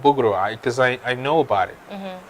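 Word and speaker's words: boegroe: It's called bugro, because I know about it.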